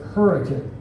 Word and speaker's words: Hurricane: We have a city in southern Utah spelled hurricane, but we pronounce it hurricane.